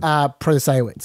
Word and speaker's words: Protasiewicz: I've already forgotten how to pronounce her name. Protasiewicz.